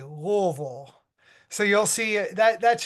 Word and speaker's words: Louisville: properly pronounce Louisville so a lot of people will say Louisville and I like to tell people it's like you have marbles in your mouth and you say Lille so you'll see that